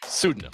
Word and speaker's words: pseudonym: Pseudonym. That's a silent P, like psycho.